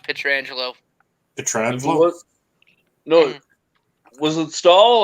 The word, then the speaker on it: Pietrangelo: It's pronounced Pietrangelo.